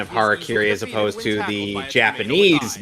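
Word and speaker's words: hara-kiri: the better pronunciation of harakiri as opposed to the Japanese Metal Gear Solid game he took battles both ferocious dragon you know what they pronounce it as they pronounce it as Harry Caray because he's such a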